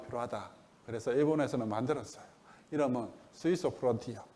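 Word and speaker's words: Suiso Frontier: 이름은 스위소 프론티어. 스위소가 일본식 수소 발음.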